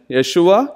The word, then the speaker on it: Yeshua: The name Joshua and Jesus are English pronunciations of the Hebrew version, Yeshua, Joshua, and Greek version, Yesu, from which we get the word Jesus.